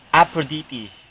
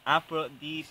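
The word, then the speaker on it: Aphrodite: the Greek god Sino her name is aprodite afrodite tamang pronunciation afrodite swell swell okay no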